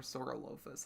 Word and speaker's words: Saurolophus: By the way, I don't know if I said this is an Alioramus and this is a Saurolophus. Or Saurolophus is how I normally pronounce it.